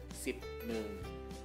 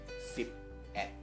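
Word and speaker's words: สิบเอ็ด: Tapi khusus untuk angka 1, ya, tidak dibaca sebagai sip ne. Tidak dibaca seperti itu, tapi dibaca sebagai sip et.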